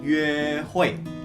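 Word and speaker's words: 约会: Nah, tadi kencan itu kita bacanya yue hui.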